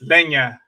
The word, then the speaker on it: leña: that, yeah, it's leña. In Castellano, the translation is leña. Leña. I got it. Leña. And that's spelled Lenia.